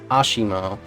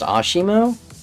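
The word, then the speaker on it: ASIMO: Fun fact, because Honda is Japanese, I'm 99% sure this is pronounced Ashimo, because I knew of a Ryu player with that tag, and it was pronounced Ashimo.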